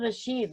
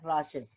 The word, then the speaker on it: Rashid: Stand correction, I'm Rashid, not Rashid. Okay, so that's thank you very much for correction.